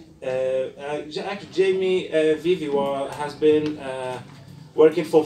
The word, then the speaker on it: Jaime: Now we will actually move to the third presenter, Jaime, Veve. Thank you actually for teaching me the Spanish. I didn't actually know that J is pronounced as in Spanish. Jaime Veve has been working